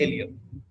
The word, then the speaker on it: ilium: ठीक है, अपर वाला जो पोर्शन है दिस वन इज एलियम। ठीक है, अपर वाला portion is called एलियम, ILIUM।